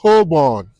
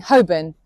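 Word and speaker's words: Holborn: What are you doing in Hobborn? Hobborn? Uh, you mean Hoben? Yeah. I don't know. The most mispronounced place names in London.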